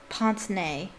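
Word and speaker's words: pince-nez: That's how the French pronounce it. Pince nez. I'll just say it that way. Mr. Borgin fixed a pair of pince nez to his nose.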